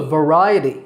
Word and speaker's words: variety: that we include a variety of fruits and vegetables in our diet did you notice how I said that word it's variety V with the stress on the second syllable Ry so it's variety the next word is